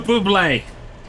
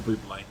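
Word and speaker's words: Bublé: and I was like there is no Accent on the E therefore I am not gonna say Buble and now you're telling me that there was meant to be one all along well you think I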